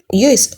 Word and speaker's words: Yoast: So Yoast Seo, Yoast Yoast, that's how I pronounce it.